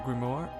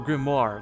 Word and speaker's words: grimoire: work he embraced the grimor grimor grimor oh sorry I've been reading it I've been saying that wrong grimor I should have realized Azure grimoire like in blaze blue